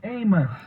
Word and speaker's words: Amos: Note how I correctly pronounce the man's name, Amos, because anyone familiar with the man or who has read the Bible knows how to pronounce Amos.